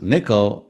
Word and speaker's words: N1QL: what is nickel or n1ql n1ql which we like to pronounce as nickel is an expressive familiar